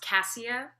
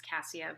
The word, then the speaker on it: Cassia: uh really quickly um my name is pronounced cassia this is on the first it's that's a it's a common thing people do it happens all the time it's cassia but um i would